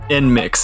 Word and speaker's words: NMIXX: Then we have NMIXX is how you say it, yeah.